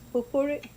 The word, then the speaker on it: potpourri: It's potpourri, Yeah, potpourri, potpourri.